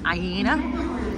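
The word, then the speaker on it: Iéna: it's called aena that's what how they were pronouncing it aena so we've come at aena stop and we're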